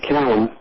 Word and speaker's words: Calame: My name is Callum rather than Kalame. Now, it's pronounced Kalame, but we pronounce it Callum.